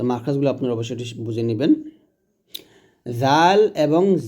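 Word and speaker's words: ذال: এ মাখরাজগুলো যদি আপনারা না বুঝেন এই মাখরাজগুললা না বুঝলে কিন্তু আপনার উচ্চারণ সঠিক হবে না। জাল হবে জিহ্বাটা উপরে দাঁতের আগে লাগিয়ে জাল।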